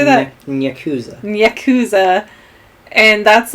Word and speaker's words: yakuza: cues what how do you say that yakuza yakuza and that's like a whole separate game you